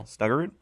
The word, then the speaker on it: Snuggerud: you say that snugger snugger there you go snuggerud um 23rd and 22's draft lot of first